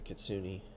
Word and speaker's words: Kitsune: This is the expansion, I think, comes with the Kitsune. That's how you pronounce that word.